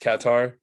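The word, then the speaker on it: Qatar: the group our first and second it's actually pronounced katar okay um and then Ecuador senagal and the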